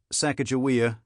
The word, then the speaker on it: Sacagawea: used by the Shoshones, or Sakakawea, the spelling used by the Mandans and Hidatsis. But we use Sacagawea, Sacagawea, because that's how Lewis and Clark phonetically spelled her name in their journals.